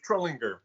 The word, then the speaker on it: Trullinger: Everyone says, is it George Trullinger or George Trullinger? Please, sir, educate our hard guests. G. Hard G. George Trullinger.